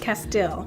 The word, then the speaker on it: Castile: Castile.